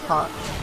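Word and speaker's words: haut: Oh, I like how it's spelled hot air, but it's like hot. H-A-U-T.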